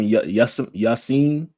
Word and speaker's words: Yasiin: So, fully help me pronounce his name. Mos Def. What's his name? Yasiin.